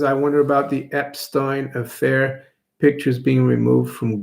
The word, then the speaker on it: Epstein: want to pronounce it it is a German name so it would be Epstein but a lot of people pronounce it Epstein couch potato those Kennedy